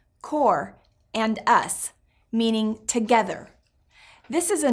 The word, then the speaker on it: Qorvo: of people creating something the word has two syllables core and us meaning together this is